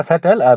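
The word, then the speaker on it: subtle: इसका वर्ड हमारा पहला वर्ड है इसका सटल। बी में आपको मैंने बताया था कि बी यहाँ पे साइलेंट है।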